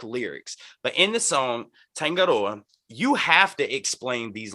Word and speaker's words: Tangaroa: In the song we reacted to Tangaroa, right? Did I pronounce that correct correctly? Tangaroa.